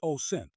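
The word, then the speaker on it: OSINT: Open-source intelligence pronounced OSENT according to Wikipedia is intelligence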